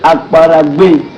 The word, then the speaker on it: Akwaragwe: Maintenant, grand tout puissant Akwaragwe. Akwaragwe. Mais tu es Camerounais, toi tu as le nom. Akwaragwe. Tu prononces ça comme je te donne. Aïe, les gars, c'est high, hein? C'est Akwaragwe.